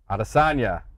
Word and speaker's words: Adesanya: I keep saying it wrong. Adesanya. Israel Adesanya.